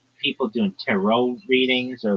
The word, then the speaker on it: tarot: But this one I'm sure of it's tarot. It's not ter. Nobody calls it tarot cards.